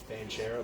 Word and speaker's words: Banchero: guy paulo yeah he's good how do you pronounce his last name banchero thank you vanquiero or vincero he's good he